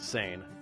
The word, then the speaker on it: seine: At that time, purse seine fishing, yes, we pronounce it seine, was the main fishing method.